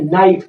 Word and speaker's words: knife: अब यहाँ पे देखते हैं नाइफ, KNIFE नाइफ, नाइफ मतलब चाकू। अब यहाँ नाइफ तो लिखा है, आप कहेंगे सर के लिखा हुआ है तो कनाइफ होना चाहिए, बिल्कुल नहीं, यहाँ पे के साइलेंट है।